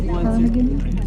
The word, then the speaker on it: ptarmigan: So again, that's the Alaska state bird, the willow ptarmigan. And that's ptarmigan with a P. There's a silent P at the beginning, so it's P-T-A-R-M-I-G-A-N.